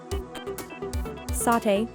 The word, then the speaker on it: sate: I'd go for the Sater Hannah restaurants over most Satay or Sate as they pronounce it is another Indonesian dish